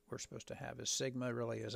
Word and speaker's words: Sigma: like an e but it actually uh is pronounced Sigma I'm sure you remember that for minut Algebra